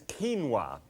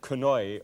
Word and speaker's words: quinoa: Right, now, what I'm going to deal with is quinoa, and Quinoa, and you might have pronounced that quinoi or something like that.